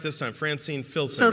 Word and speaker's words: Filsinger: But I said it right this time, Francine Filsinger. Filsinger, That's how you yes, say it.